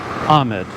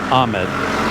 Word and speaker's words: Ahmed: It's like Muhammad, but the last part Ahmed. So that's how you pronounce it. Ahmed. Muhammad. Ahmed.